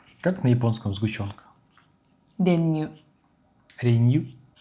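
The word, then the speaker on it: 練乳: 練乳。 Ренью? 練乳。 Ренью? ちょっと еще раз. Ренью? Ну да. Ударение ню. Ренью. Ренью.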